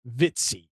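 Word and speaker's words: Vitesse: uh that is from a company called uh vitsy v-i-t-e-s-s-e I believe is how it's pronounced it comes with a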